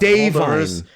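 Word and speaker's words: Da'Vine: Dave Vine is fine. Whatever. I don't give a shit. It sounds like a guy named Dave Vine.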